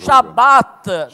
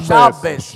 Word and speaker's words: Shabbat: Shabbat, non Shabbes.